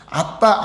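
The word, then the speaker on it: אבא: 예, 우리가 아빠라는 게 그 아람어로는 아빠하고 똑같아요. 발음이 아빠.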